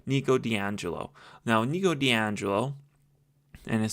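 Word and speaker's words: Nico di Angelo: The issue is that in the third book, we are introduced to the Amazon and Nikico Deio. I said his name wrong. My apologies. Nico D'Angelo.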